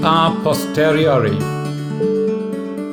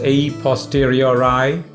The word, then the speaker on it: a posteriori: today's latin phrase is a posteriori some people also pronounce it as a posteriori that's again a british pronunciation it means from later